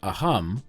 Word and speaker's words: Assam: Indian state of Assam in India they pronounce it a hum but if I said it like that you would all think I was clearing my throat join me now for